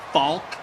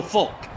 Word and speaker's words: Faulk: say his name marshall falk marshall marshall falk marshall falk you do pronounce the l i'm like i'm legitimately